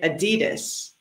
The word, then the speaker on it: adidas: right and the pronunciation so jess is from london and she says oddly that's right and I'm from Los Angeles from California and I say adidas both are correct but so adidas or